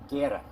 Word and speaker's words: Guerra: And Sergeant Guerrera, I guess, how to say it again? Guetta. Guerra. Yeah.